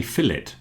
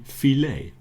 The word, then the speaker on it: fillet: Sometimes in America, we usually pronounce the T. In England, we say fillet. I think it's an English word, but in America, they like to pronounce it as if it's French and say fillet.